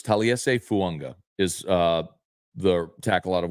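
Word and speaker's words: Taliese Fuaga: So I think Fuanga, and he did pronounce his name, so it's Taliese Fuanga is the tackle out of Oregon State they drafted.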